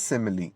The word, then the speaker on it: simile: Spelling का ध्यान रखें प्लीज, SIMILE। इसको लोग स्माइल भी पढ़ देते हैं, बट दिस इज सिमिली।